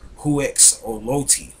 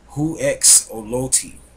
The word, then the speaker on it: Huexolotl: The Native Americans, they called it Huexolotl. Huexolotl, which is spelled H-U-E-X-H-U-E-X-O-L-O-T-I.